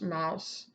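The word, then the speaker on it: Maus: looks like mosque but in German it's pronounced Mouse this was a Pulitzer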